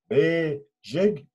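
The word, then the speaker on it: bezhig: Take the number 1, for example. Be, jig, identify the vowel order. And the vowel order is long, short. So when you say be, jig, it's long, short.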